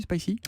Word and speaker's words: Spicee: C'est donc Spicy qui s'écrit S-P-I-C-2-E.